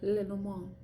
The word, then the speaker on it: Lenormand: Yes, it's French, and I don't care if I sound pretentious pronouncing it with a French accent. As best of a French accent I can imitate. Lenormand, you know, de la nuit.